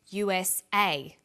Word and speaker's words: USA: Notice that each letter in the abbreviation is pronounced separately, but the last letter is pronounced more strongly because it carries the primary stress. So we say USA, ASAP, ABC, and TV.